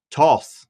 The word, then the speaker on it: Thoth: I can probably look it up, but Toth.